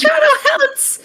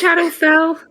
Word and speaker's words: Shadowfell: No, it's not Shadow Hell. It's Shadowfell.